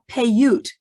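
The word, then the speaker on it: Paiute: uh sarah winnemucca was of the payut that's how you pronounce it the payut tribe uh but the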